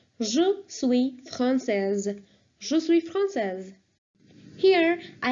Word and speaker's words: français: And now I'm telling you the pronunciation for each one of them. So please listen carefully. For French, it's français, française.